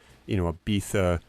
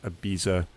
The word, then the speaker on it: Ibiza: It's kind of like, Ibiza versus Ibiza. It depends on who you're talking to.